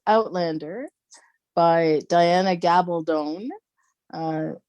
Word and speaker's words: Gabaldon: called Outlander by Diana gabone uh she always said that her name rhymes with stone uh but it's the